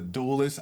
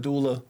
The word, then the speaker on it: doula: of a uh activist Community organizer she's a duelist I know I'm saying it wrong what's what's the what's the proper title it's what what kind of doula it's uh dream Doula dream doua so if